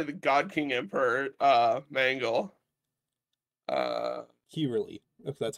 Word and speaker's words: Kirill: Kirili, if that's how the name's pronounced. What? The person in chat whose name was in Russian. How's it pronounced? Kirili. Or Kirill. Kirill? Yeah, Kirill.